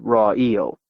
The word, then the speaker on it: Raoul: My father pronounced it raw eel, like a thing you eat with your eyes closed. In snowfall, the town looked ghosted over, dead still at times.